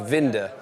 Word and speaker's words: Winther: Vinder. And it's written down here as Winther. It's pronounced Vinder.